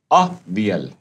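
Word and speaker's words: avial: आया ही name it अ वियल यहां प है प्रोनंसिएशन इसका अ वि अल the spelling is एवी आई ए एल उसने नाम दिया इसको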